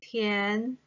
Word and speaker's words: 填: So here, Tian belongs to the second tone and is pronounced as Tian.